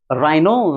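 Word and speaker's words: rhino: रिदमम राइनो राइनो का मतलब गैंडा। राइनो की स्पेलिंग क्या होती है? आर एच आई एन ओ होती है। देखिए राइनो आर के बाद देखिए एच आ गया।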